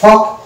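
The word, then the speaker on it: folk: ভুল উচ্চারণ হয়ে যাবে এই যে ফক হয়ে যাবে যাই হোক ফক হচ্ছে রং প্রোনাউন্সিয়েশন একচুয়াল প্রোনাউন্সিয়েশন হচ্ছে ফক এখানে যেহেতু ফক আসছে এল উচ্চারণ আসছে না তাই এল হচ্ছে এখানে সাইলেন্ট লেটার অনুরূপ ভাবের পরবর্তী ওয়ার্ডটাও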